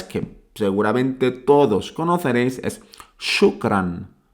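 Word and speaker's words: شكرًا: seguramente todos conoceréis es shukran shukran notáis ahora esa n final shukran y y la palabra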